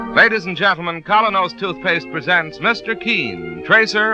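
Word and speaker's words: Kolynos: the air ladies and gentlemen colonos toothpaste presents Mr Keane Tracer of lost persons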